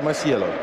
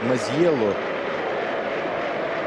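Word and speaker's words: Masiello: Сальваторе Масьело. Масьело. Фамилия какая-то не очень итальянская. Это вокальная позиция S как Z считается в итальянском языке.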